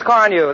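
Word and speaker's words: Carnu: polish your family bus with quick polishing Johnson's Car New this week? Car New is spelled C-A-R-N-U.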